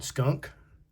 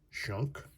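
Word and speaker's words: Schunk: Of course, it's spelled different. Aaron Skunk. Shunk.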